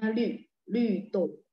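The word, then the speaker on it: 绿豆: Bacanya lü, lü tou.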